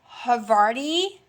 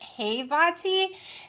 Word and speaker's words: havarti: a half ounces of havarti i'm pronouncing it right because somehow it looks like y'all would tell me to pronounce it hey vati and then other people it looks like havari so her body dil